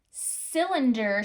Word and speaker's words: cylinder: Cylinder starts with a C, even though the C sounds like it's an S, it's a soft C.